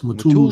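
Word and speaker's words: Mutulu: Uh Matula Shakur Matulu Yeah. Did I say it right? Mulu. Yes. Matulu.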